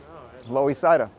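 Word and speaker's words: Loisaida: see there it says loe saida that was nicknamed in the late 80s to commemorate the puerto rican uh it's kind of cool did you know that's what it's pronounced still low ecida so we're gonna take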